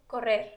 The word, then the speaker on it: correr: Correr. Correr. Both of those are R's you kind of roll.